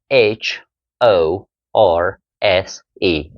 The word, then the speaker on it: horse: it is horse horse British English o and R since in British English R is only pronounced when followed by a vowel so h o r will be so o and or combination o or or o and r o o horse it's not horse it's